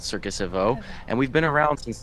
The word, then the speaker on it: Circus Evo: And Houston, the name of your company, Circus Evo, is how you pronounce it. Can you say it again for us? Yeah, Circus Evo.